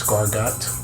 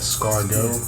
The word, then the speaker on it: escargot: is all about the Nike SV donk low escargo or you may try to pronounce it as scarat the way it's spelled but it's actually a Scargo I think the is silent I so let's